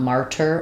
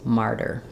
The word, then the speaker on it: martyr: voice is on um cuz it's not martyr or martyr it's martyr um thank you for